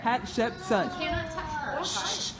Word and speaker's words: Hatshepsut: Hatshepsut. Hatshepsut. It's just like it's spelled up there. Hatshepsut.